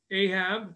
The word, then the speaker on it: Ahab: there in the tanaf how ahab or aha as we pronounce it was uh there